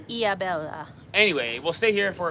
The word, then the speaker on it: Ilhabela: Hard to pronounce things in Portuguese because you've got to remember the H is a silent letter. It's not Ilhabela, it's Ilhabela. Ilhabela.